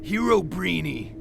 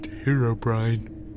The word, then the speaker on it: Herobrine: Hero Breeny. He's real. Really? It's pronounced Herobrine.